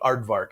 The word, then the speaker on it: Aardvark: We called it Aardvark, Advanced Animation Research Development at Rainbow. The K is silent.